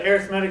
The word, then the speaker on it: arithmetic: No, that's not arithmetic, it's arithmetic. I guess it's an adjective. We pronounce it arithmetic. If we're talking about the noun, we would say arithmetic.